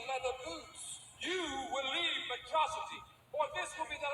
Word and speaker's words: Metro City: This is a day you, as a atrocity, shall not soon forget. It's pronounced Metro City.